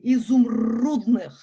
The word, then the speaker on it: изумрудных: Very often when you see a Y, it's an U. It's a very special Russian syllable. It's difficult, consonant difficult to pronounce. You need to open your jaws kind of widely. It goes to the sides of your mouth. U, изумрудных.